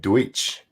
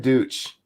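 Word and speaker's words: Deutch: the hallway for him, Ted Deutsch, I think is how you're supposed to say his name.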